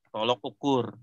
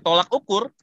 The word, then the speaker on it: tolok ukur: Tolok ukur. Jadi sekarang Bapak, kalau saya ngecek skripsi mahasiswa, ini kalau ada yang bacanya tolak ukur, saya tandain merah langsung.